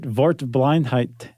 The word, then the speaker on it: Wortblindheit: And they it was a German who who coined that term and they called it "Wortblindheit".